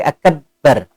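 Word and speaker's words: أكبر: Bukan akbar tapi akbar. Banyak kayak ada suara tasydid.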